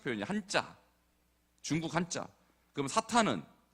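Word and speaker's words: Satan: 한자 중국 한자 그럼 사탄은 그 헬라식 표현이에요 헬라 헬라 그러니까 어 사탄 뭐 영어식 표현이라고 해 되고 영어로 세이튼 그러거든요 세이튼 세이튼의 번역이 사탄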